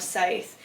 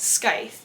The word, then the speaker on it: scythe: novic and I have scythe and for the longest time I did not know how to pronounce the word Scythe so I kept calling it sky and then I was